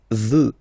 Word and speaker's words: veux: Vouloir, first person, je veux. Final X not pronounced.